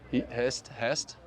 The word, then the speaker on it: Hest: needs to explain me how that's pronounced Hest I I was calling them Heist at first I think I put too many too many letters in that word uh we've been following